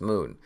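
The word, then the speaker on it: Mun: It's actually pronounced Moon. Kerbalese is weird.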